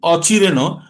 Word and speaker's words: অচিরেণ: শান্তিমও বলছি না, শান্তিম অচিরেণ অধিগচ্ছতি। অচিরেণ, অচিরেণ, আর তারপরে অধিগচ্ছতি। এবার এই অচিরেণ নটা আছে মূর্ধন্য, আবার এই মূর্ধন্যের উচ্চারণ আবার সংস্কৃত উচ্চারণ করতে গেলে অচিরেণ, র, র, একটু র ভাবা আসবে।